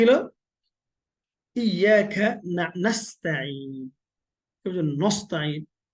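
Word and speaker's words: نستعين: আইন, নাস্তাইন, আইন এইভাবে গলাতে বলবেন আর গলাটা চিপ দিবেন, তাহলে ইনশাআল্লাহ আইনের উচ্চারণটা হয়ে যাবে বিইذنিল্লাহ। আচ্ছা, আর কি? নাস্তাইন, তারপরে হচ্ছে ইহদিনাস সিরাত, মনে তাহলে কি হলো?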